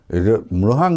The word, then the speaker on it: মৃহাং: মৃহাং নামটাও উচ্চারণ করতে বেশ কষ্টসাধ্য। তো আমি বানান করে আপনাদেরকে বলছি, ময় রফলা ওকার হয়কারে হা আর অনুষ্কার, এই মৃহাং।